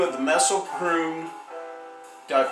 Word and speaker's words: Mespelbrunn: Hello, I'm the Gypsy and you're not, and this is Anatomy of a Painting, part 2 of the Mespelbrunn. Did I pronounce that right?